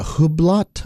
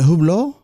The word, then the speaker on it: Hublot: I don't know uh what is a Hublot Hublot I think oh yeah I think it's a French pronunciation this is what I